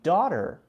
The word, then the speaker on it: daughter: T sound pronounced whereas when we say daughter notice I'm not saying doctor I'm saying almost a decent a very light a sort of like the Japanese R sound daughter I don't know